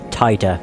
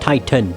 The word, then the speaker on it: Titor: Like, they do pronounce Titor's name, and they say Titor, as in like Titan, I guess, as opposed to Tita, which is what I kept saying.